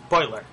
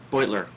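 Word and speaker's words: Beutler: I understand you visited Brian Butler in the house the pronounced boiler boiler who tragically shot last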